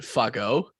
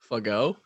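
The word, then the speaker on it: Fagot: pronounced yeah i i remember watching him it's pronounced fuck-o fuggo but the the tweet replies to him being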